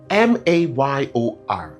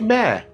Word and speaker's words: mayor: Well, this could be close, but it's actually mare. It actually is a monosyllabic word that rhymes with mare, like a donkey, right?